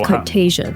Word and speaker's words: Cartagia: Okay, so it's Cartagia. That's how you say it.